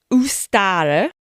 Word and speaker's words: Ostara: The goddess, Ostara, definitely pronounced like that because I've done loads of bloody Googling on the old how to pronounce stuff, is said to